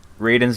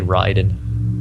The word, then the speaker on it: Raiden: And Raiden's getting 3 different forms in Mortal Kombat 10.